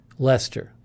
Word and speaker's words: Leicester: I never remember how to pronounce this. Leicester? It's Leicester, isn't it? I think. Leicester.